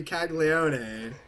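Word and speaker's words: Caglianone: You gotta say Caglione.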